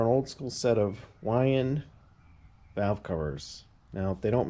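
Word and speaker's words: Weiand: I mean, I love that, the Wyand, and it's pronounced Wyand if you check out the old school ads.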